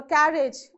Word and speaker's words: carriage: is on the first for carriage again it is on the first only even though you have a suffix age okay so these are exceptions